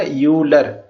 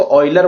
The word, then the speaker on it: Euler: ये जो होता है ना यूलर इसको ऑयलर बोला जाता है। ठीक है ना? यूलर नहीं बोलते ऑइलर बोलते हैं इसको। लेकिन ठीक है? यूलर बोल देंगे क्या है? ऑइलर। ठीक है? इसके असली प्रोनन्सिएशन ऑयलर होती है।